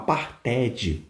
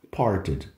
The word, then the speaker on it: parted: Então, se você falar parted, fica feio, né? Então, parted. Quanto mais suave esse ED ficar no final, melhor aí para você caprichar na pronúncia, legal?